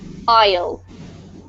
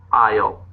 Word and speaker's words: isle: dubbed dubbed yep and Isle Isle yep so there's a totally silent s which is a little bit offputting um well done lovely